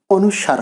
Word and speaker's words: অনুস্বার: এখানে অনেকেই ভুল ধরতে পারেন যে আমি কেন অনুস্বার উচ্চারণ করছি এতদিন তোমরা অনুস্বর উচ্চারণ শুনে এসেছি এক্ষেত্রে